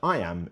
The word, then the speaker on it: iamb: it means the word I am is pronounced just like the phrase i am now let's expand that